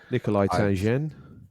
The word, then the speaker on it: Nikolai Tangen: If you Yeah, like to that's pronounce right. that again. Nikolai Tangen.